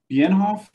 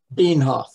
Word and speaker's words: Bienhoff: So, is your last name pronounced Bienhoff? Nope. Nope. Long E. German. Long. German. Long E. Okay, give it to me. Bienhoff. Like, Bienhoff. yeah, like the green, things or the pinto things.